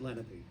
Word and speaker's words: Lenape: of what this was once occupied by the Lenape. We pronounce it Lenape. I taught at Lenape High School for years. We pronounce it Lenape, but the Lenape were here.